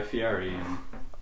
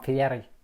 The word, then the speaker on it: Fieri: There's a photo when you met Guy Fieri. I met Guy Fieri. No, Dylan, you guys know Kobe together, right? First time I met him, same day I met Guy Fieri. We used to call him Fieri, but that's how it's pronounced.